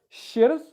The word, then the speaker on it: shirt: It's spelt S-H-I-R-T. The I-R is pronounced It's not shirt or anything like that. It's shirt, okay?